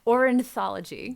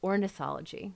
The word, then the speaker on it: ornithology: entire life until just now how did you pronounce it orthology ory orthology through the Cornell lab of ornithology nice there we go it's a process um